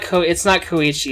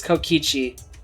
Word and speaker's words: Kokichi: Did feel like it's not Koichi, it's Kokichi. But yeah, fair enough.